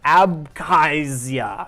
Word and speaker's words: Abkhazia: how do you pronounce that? I would Abkhazia.